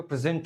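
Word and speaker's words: present: लेकिन जब मैं बोलता हूं मैं यहां पे प्रेजेंट हूं। तो आप देखिए प्रेजेंट एस इ एन टी ये जो सेकंड सेगमेंट है इस पे मेरा स्ट्रेस रहा।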